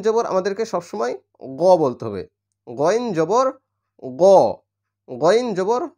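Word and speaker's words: غ: জের ই আইন পেশ উ তাহলে আই উইন গইন হচ্ছে গলার শেষ প্রান্ত অর্থাৎ আমাদের জিহুব্বা যেখানে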